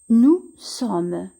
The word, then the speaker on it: nous sommes: Nous sommes. Nous sommes. Ici, le S ne se prononce pas.